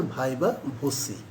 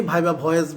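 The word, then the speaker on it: viva voce: এই পরীক্ষাটার নাম হচ্ছে ভাইবা ভোসি। এই পরীক্ষাটার নাম হচ্ছে ভাইবা ভোসি। অনেকেই ভাইবা ভয়েস বলে, ভয়েস বানান আর ভোসি বানানটা তুমি দেখো তোমার অ্যাডমিট কার্ডে লেখা আছে, এটা হচ্ছে ভাইবা ভোসি।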